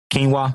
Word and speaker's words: quinoa: says robert do you eat um hope i'm pronouncing this right quinoa quinoa yep so quinoa is i eat quinoa as